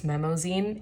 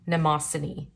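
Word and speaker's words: Mnemosyne: I realized I had been pronouncing this brand wrong this whole time. I thought it was Memozine. It's actually named after a Greek or Roman god. Nemosini is how you pronounce it, I believe.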